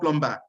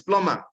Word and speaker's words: plumber: It's not plumber. So what is silent is the B. Is the B. It's plumber. The B should not be pronounced.